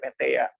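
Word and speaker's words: Metteyya: Dalam pelafalan biasanya Maitreya, tapi kalau dalam pelafalan Pali kita sebutnya Meteya, nggak pakai R.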